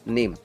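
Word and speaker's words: name: उसके बाद में देखेंगे हम नेम। नेम में लास्ट में कौन आया है, ई, तो ई को आप प्रोनाउंस करोगे क्या, नो, सीधा सीधा क्या बोलोगे, नेम।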